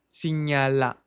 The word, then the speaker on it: signala: Bom, signala. Esse HN em francês tem um som de NH em português, então signala, signala.